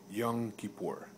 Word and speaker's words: Yom Kippur: tell you one thing it's actually called Yom Kippur and and I'm not